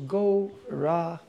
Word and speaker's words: Gauranga: Divided into four syllables, Gauranga.